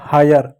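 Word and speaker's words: hire: उसके बाद एच को ह पढ़ेंगे। आई के बाद आर इ है तो आई पढ़ेंगे। आ की मात्रा और य पढ़ेंगे। आर को क्या पढ़ेंगे? र पढ़ेंगे। ई साइलेंट हो जाएगा। हो जाएगा हायर।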